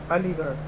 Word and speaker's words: Aligarh: We are currently 58.2 miles from Aligarh, A-L-I-G-A-R-H. So let's look up some interesting facts about Aligarh. Or Aligarh. Aligarh is a city, and listen. Oh, it says listen. Aligarh.